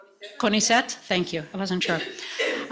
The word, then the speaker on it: CONICET: Okay, now that the recording is in, Monica Sormuk is a senior researcher at, do you say CONICET?